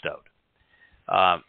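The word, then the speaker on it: דוד: There is no I in his name, and there is no V in the Hebrew alphabet, nor the sound of the V. So it is Dowd.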